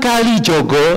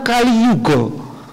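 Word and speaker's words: Kaliyuga: Sunan Kalijogo itu yang benar Sunan Kaliyugo. Kali artinya rusak, yugo artinya zaman.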